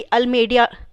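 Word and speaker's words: Almeida: Francisco de अल्मेडिया और Francisco de अल्मेडा एक ही person को बोला जाता है. वो एक ही नाम को प्रोनाउंस करने का अलग अलग तरीका होता है.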